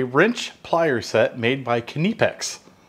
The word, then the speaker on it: Knipex: plier set made by kinnipex now i hear this name said twenty thousand different ways so write down below how you pronounce it but seeing how it's german we're gonna pronounce it kanepex these are basically a